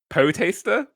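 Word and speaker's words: poetaster: how you pronounce it spelt p-o-e-t-a-s-t-e-r which basically means a poet and i think ah really good a person who writes inferior poetry i love that i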